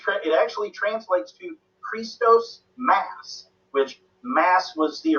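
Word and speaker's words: Χριστός: look at Christ theme which in Greek it's pronounced Christos the first two letters in the main Christos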